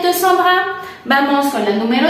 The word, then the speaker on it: Sandra: Tu vas a la fête de Sandra. Prononciation, point d'interrogation. Prononciation. Tu vas a la fête de sans sonido nasal, dra.